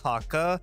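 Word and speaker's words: Häkke: And yes, I do know that it's actually pronounced Haka, because I believe either Luke Smith or Deej, Bungie's old community manager, tweeted out how it was pronounced, but whatever, I'm gonna keep calling it Hake.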